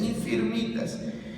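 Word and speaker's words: infirmitas: palabra original es infinitas así se escribe infinitas como si dijeras enfermitas pero es infinitas y lo que significa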